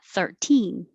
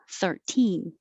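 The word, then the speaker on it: thirteen: syllable 30 30 22 the stress is on the second syllable and you keep the t sound 13 13 23 chilean chilean and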